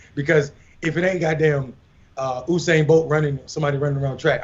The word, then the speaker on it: Usain: His name is not you. His name is Usain.